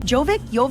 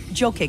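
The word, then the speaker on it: Jokić: Jovic? I don't know how to say his name. I know he's Serbian or Croatian. Jokic, there we go.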